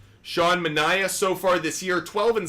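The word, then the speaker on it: Sean Manaea: just interesting how about Shawn manah I pronounce this dude sha manah so far this year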